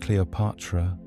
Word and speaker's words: Cleopatra: Originally pronounced Cleopatra, the name is a fusion of 2 powerful words, kleos, meaning glory, and pater, meaning father.